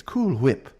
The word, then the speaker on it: Cool Whip: When you when you say cool whip, you don't pronounce the H. And you know, one of them was pronouncing the H. It's cool whip.